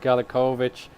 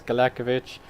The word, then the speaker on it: Galekovic: Now, through all his time at my club, I always pronounce his name wrong. I said Galekovic, but it's Galekovic.